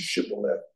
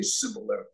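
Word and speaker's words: shibboleth: pass and they said the password was shibolet but they couldn't pronounce it their accent caused them to say cilet and if they said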